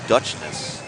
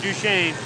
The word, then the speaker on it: Duchesne: Number 111, Sam Golan out of Dutchness. How do you say it? Duchesne.